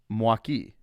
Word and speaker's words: Milwaukee: but the way that it's supposed to be pronounced is mwaki exactly got it and that's going to conclude